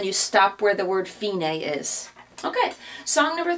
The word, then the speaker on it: fine: the word FINA is fi n e in Italian is pronounced fini I know in English